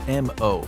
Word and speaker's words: M-O: On the other side of the spectrum, one of the first bots WALL-E comes in contact with is M-O, pronounced just as he says it, “Mo.”